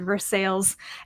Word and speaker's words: Versailles: Versailles no not it you can't call it anything else you have to pronounce it Versailles and then there's one